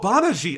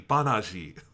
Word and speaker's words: Banagher: I'm like, okay, I understand, you didn't say it wrong, I just couldn't understand it outside of the Banaji. Yeah, it's not your fault, it's the fault of whoever decided that would be the official spelling.